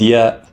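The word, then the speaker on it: ياء: And ya, pronounced like the letter Y.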